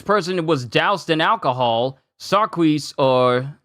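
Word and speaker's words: Sarquiss: Sarkis. Sarkis. Yeah, his name is Sarkis, not Quis.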